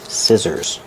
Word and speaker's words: scissors: I say these are these are children's scissors. Pronunciation. Scissors. Use the short I like this is scissors. The SC C makes the S sound with no voice.